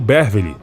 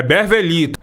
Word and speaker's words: Bervely: Pelo selo Bervely, Paulo Sérgio lançaria é Bervelito. Berveli a pronúncia. Na época eu gravei Bervel, eu não sabia a pronúncia, né? É um Y.